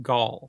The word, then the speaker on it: Gall: Gall. It's Gall with an A. Oh, that's sad. I just like the way you pronounce it, though, and we can just pretend it's St. Gull.